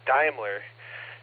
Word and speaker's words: Daimler: The pronunciation is Daimler.